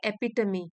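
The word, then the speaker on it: epitome: Rohan in contrast, इसके विपरीत, वॉज द एपिटमी, इसकी प्रोनाउंसिएशन है एपिटमी, जिसको बोलते हैं आदर्श, a perfect example of something या ideal example, was द एपिटमी of strategic learning.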